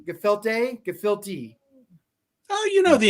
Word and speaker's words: gefilte: does the uh come from that where the pronunciation word is they're not yiddish that's where gefelt comes from the filthy gefelty gefilte gefilte oh you know the english language there's